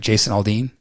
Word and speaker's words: Aldean: Tell me if I pronounce his name right. Jason Aldean? Yes.